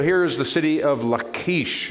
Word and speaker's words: Lachish: is the city of lakeish it sounds like something you should eat in the morning right that's how you pronounce it in hebrew let's uh drone over lachish and we'll see what